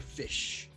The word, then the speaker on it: Ghoti: Fish. Going to Austin tomorrow. So it's spelled Ghoti, but it's pronounced fish.